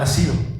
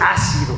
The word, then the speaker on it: ha sido: quiere decir la palabra ha sido no es ácido ha sido es con acento en la y con c este es con s y es sin acento ácido más pero fíjate agarrado